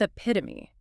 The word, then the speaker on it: epitome: Indeed, we begin with epitome pronounced e pi ti. The stress placement on that second syllable pi t is absolutely crucial here. E pi t omi.